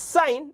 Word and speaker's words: sine: It's sine written as sin, pronounced as sine.